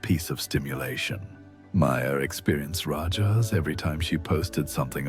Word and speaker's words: rajas: There's something else happening, something the ancient sages called rajas, pronounced rajas.